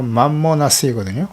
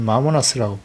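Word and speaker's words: μαμωνᾶς: 이 재물이라고 하는 헬라어가 맘모나스이거든요. 혹은 마모나스라고 발음하기도 하는데요.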